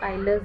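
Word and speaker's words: Euler: अब इसमें एक इक्वेशंस हैं जिनको हम कहते हैं आइलर्स इक्वेशन। ये हिंदी में यूलर इक्वेशन लिखा है, वैसे ये जो है इसका प्रोनाउंसिएशन आइलर इक्वेशंस ही होता है।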